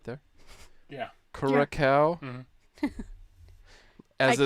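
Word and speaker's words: Curaçao: How do you pronounce that word right there? Yeah. Curacao.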